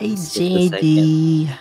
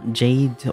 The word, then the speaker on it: Jade: Oh, it's with a silent E. Okay, Jade.